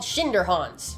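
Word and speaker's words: Schinderhannes: It's called Schinderhans. I think that's how you pronounce it.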